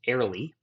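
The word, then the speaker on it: Ariely: So Dan, I believe his last name is pronounced Airley, did what he calls his meaning of work experiment.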